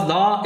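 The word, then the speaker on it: the: इट is pronounced as द। इसको pronounce करते हैं दा के तौर पर अगर ये कॉन्सोनेंट आवाज़ से पहले इस्तेमाल हो, और इसको दी प्रोनाउंस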